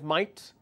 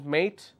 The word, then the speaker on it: mate: pronounce that as differently Australians pronounced mate as might but British English is mate how are you mate